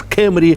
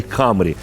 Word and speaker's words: Camry: вам відповім друзі що поки Ось ця назва пишеться латинськими літерами ви можете її вимовляти Як вам заманеться хочете камрі від японського камурі корона а хочете читайте її так як читають наприклад американці кемріт і все одно і той і той варіант буде правильний Отже Let's go